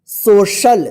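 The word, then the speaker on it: social: ओ सी आई ए एल इसको क्या पढ़ेंगे सोशल देखिए सोशल यहां पे सी का जो है ना स उच्चारण हुआ है क्योंकि सी के बाद जो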